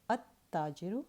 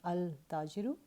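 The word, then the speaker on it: التاجر: So at-tajiru, not al-tajiru.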